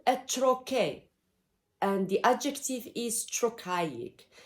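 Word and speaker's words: trochee: the ion back deals with combination of unstressed syllable the opposite to this rhythm is called a trochae and the adjective is trochaic troche t r o c h double e chirokaik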